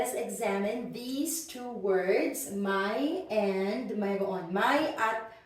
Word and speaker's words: may: is really my because because in Filipino we don't have the a sound right so we never we never read this as Main it's always my and this is the